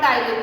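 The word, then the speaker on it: ptyalin: उसके बाद अमाइलेज और टाइलिन। ये एक ही नाम है, ठीक है। अमाइलेज के लिए टाइलिन भी यूज होता है, पी साइलेंट होता है, इससे वो टाइलिन पढ़ते हैं।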